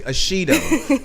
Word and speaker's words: Ashido: Am I saying it correctly? Ashido, yeah.